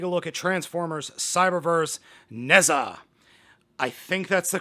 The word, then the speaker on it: Nezha: That is, today we are taking a look at Transformers Cyberverse Nezha. I think that's the correct pronunciation. I did look this up beforehand, and the website pronunciation said Nezha, no pronounced H.